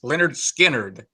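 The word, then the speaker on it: Lynyrd Skynyrd: That was on their first album, pronounced Leonard Skinnerd, Poison Whiskey.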